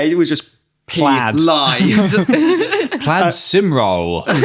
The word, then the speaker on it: Plaid Cymru: Can't pronounce them. Yeah, it was just Plaid. Lie. Plaid Cymru. Pleiad Curum.